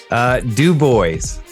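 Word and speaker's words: DuBois: Now, I know I'll butcher the name, but how do you say the market you're in? Du Bois.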